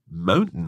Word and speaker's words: mountain: Yes, she said mountain lion. That's right. She kind of didn't pronounce the T.